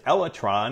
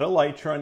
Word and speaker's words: Elytra: without dying now you heard me right it's elra not elytra not elyra elra and that is the correct pronunciation look it up but anyhow in this